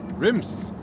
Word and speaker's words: rims: Ah, rims. So like rims on a tire. You have to stick your tongue down your throat when you pronounce the R.